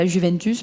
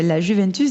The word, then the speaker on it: Juventus: le J n'existe pas alors qu'il y a la Juventus, parce que ça c'est le truc qui revient à chaque fois. Il faut savoir que la Juventus, déjà en italien ça se dit la Juventus